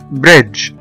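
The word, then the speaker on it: bridge: أول حاجة لما بيجي بعد منه حرف الإي أو حرف الواي، حرف الإي وحرف الواي بيخلوا حرف الجي ينطق جي زي ما أنا بقوله دلوقتي جي جي، وده بيكون واضح جدا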